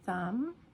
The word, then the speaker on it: thumb: Doubt or thumb. Thumb. You're not saying the B, okay? But it's there when you spell it.